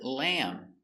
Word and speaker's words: lamb: Let's practice the pronunciation of these words. Example, we see the word lamb.